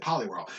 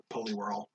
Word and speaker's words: Poliwhirl: yeah it's pollyworld like everyone calls it pollyworld and this one kid was just like no it's it's poliwag poliwhirl and i'm like why and he's just like that's how you that's how it's spelled i'm like no no